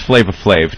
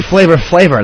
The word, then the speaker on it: Flavor Flav: Does Flavor Flav and VH1 and everyone realize that we're off the air in like 15 minutes? You do know it's Flavor Flav.